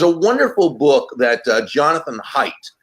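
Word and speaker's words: Haidt: wonderful book that Jonathan hight it's spelled like hate but it's pronounced hight wrote several years ago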